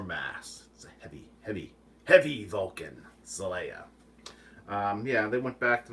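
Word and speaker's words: Xelaya: officer back to planet Celaya the planet named for Mount seleya they only they spell it with an X instead of an S but they still pronounce it Celaya I want to say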